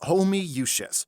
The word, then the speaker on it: Homoiousios: It's pronounced Homoiousios. How? There's 20 O's! It's Latin. What'd you expect?